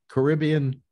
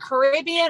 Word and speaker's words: Caribbean: a little bit Caribbean is it Caribbean or Caribbean neither you can use either I use I usually say Caribbean although Caribbean is fine yes I I think or am I saying it wrong depends on whether you say tomato or tomato yeah either yeah why